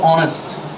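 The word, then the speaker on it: honest: consonant কিন্তু আমরা জানি এইচ এর পরে যদি তোমার ও ইউ এগুলো থাকে সেক্ষেত্রে এটা উচ্চারণ হয় না অর্থাৎ এ অনেক জায়গায় উচ্চারণ হয় না যেমন দেখ অনেস্ট এস না অনেস্ট কি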